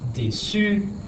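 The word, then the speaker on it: déçue: All right, déçu, if it's feminine, it's still pronounced déçu, and it means disappointed.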